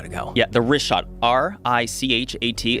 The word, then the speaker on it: Richat: Yeah, the Richat, R-I-C-H-A-T. It's worth mentioning he's that. Got it already here. Yeah, in the first couple, I just want to say it's Richat. I used to call it Ricot.